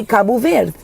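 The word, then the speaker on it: Cabo Verde: And if I'm going to say kabu ver I will say kabu ver. I'm not going to be like kabu ver like the what are we doing with the d. It's kabu ver.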